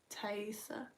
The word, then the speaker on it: Taiesaa: You go over to the ESA, how do you pronounce that? Technically, you could say, so that would be a mispronunciation, but it's at least a close mispronunciation. But it's Isa. Combine the two.